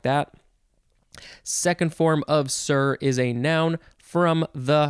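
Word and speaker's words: cere: Next we have sir. I think that's just how it's pronounced. It is spelled C-E-R-E, sir, first form.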